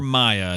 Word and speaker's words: Mia: That's for listening from to the Mia show. or Maya. It's MIA. I know it can be pronounced either way.